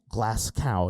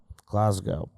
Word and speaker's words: Glasgow: Ian Rickabani on the collision recording keeps saying glass cow. No, no, no, no, no, no, no, no, no, no, no. That's G. That's a G. Glasgow. Glasgow. That's actually how you pronounce it.